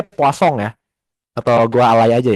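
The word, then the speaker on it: Poisson: Jadi namanya poison tapi setahu gua ini orang Prancis ini dibacanya poong ya atau gua alay aja ya kayak kasong gituong rasio.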